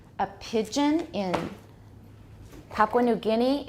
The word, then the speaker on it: Guinea: that's mainly how it goes and Papua New Guinea we need to know how to say the